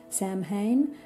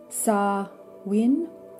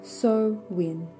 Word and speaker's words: Samhain: it's written in English, Samhain. That's not actually correct. It's actually Samhain or Samhain, which is closer with my Australian accent to the Irish or the Gaelic pronunciation.